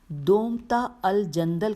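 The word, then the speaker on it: دومة الجندل: بھڑکتی جنگ سے ہاتھ روکا، تو نے میرا دومتا الجندل کا برتاؤ بھی فراموش کر دیا۔ آئیے اس کی ہجے کرنا بہت ضروری ہے۔ لکھا ہے دال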